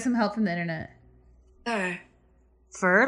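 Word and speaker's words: Führer: help from the internet fur like fern that's how you pronounce it for but it means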